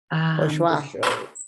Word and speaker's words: Bourgeois: Bourgeois.